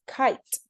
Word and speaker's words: kite: Now, if I add that silent E with kit and the silent E, it becomes kite.